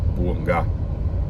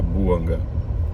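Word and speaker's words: Bouanga: Ah, porque na França é buangá e na África e aí, né, considerando gabão, é buanga. Boanga, a pronunciaria boanga.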